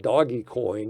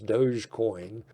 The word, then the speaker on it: Dogecoin: And now it looks like Elon is touting doggy coin is what I call it. I think the correct pronunciation is Dogecoin.